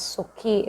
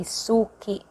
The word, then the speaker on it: suki: soki okay 200 okay in visaya we pronounce it as sookie like that it depends